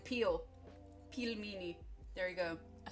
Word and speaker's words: pelmeni: all right peel meie you guys keep saying pronounce it right peel me like peel peel meie there you go I said it right